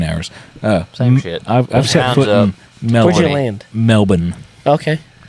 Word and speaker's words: Melbourne: actually you know melbour they they they pronounce it Melbourne Melbourne them they're wrong there's no RS that they didn't win two world wars it's melbour no but they were all